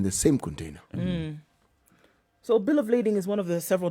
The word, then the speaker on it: bill of lading: Bill of landing, bill of lading.